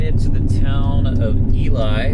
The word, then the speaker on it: Ely: Alright, well, I finally made it to the town of Ely, or I think that's how you pronounce it, Ely. It's spelled E-L-Y.